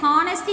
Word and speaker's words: honesty: Yes, honesty is the best policy. So, which is silent here? H.